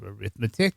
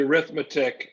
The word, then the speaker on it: arithmetic: So the arithmetic or arithmetic, I think you can pronounce the word either way.